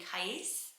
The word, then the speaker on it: Qais: It's named Qais. So you have to say it with the pronunciation on the end.